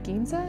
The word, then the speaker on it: Ginza: Ginza? Is that how you pronounce that?